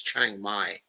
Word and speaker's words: Chiang Mai: And by the way, okay, it's Chiang Mai, okay, in the north. Okay, that's the way you pronounce that one.